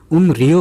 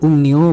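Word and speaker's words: 음료: उम्रियो हुँदैन है, उ म रलाई यो छ, उम्रियो पढ्नुपर्ने नि त, तर उच्चारण विधिले चाहिँ उम्न्यो भन्नु भनेर भन्छ।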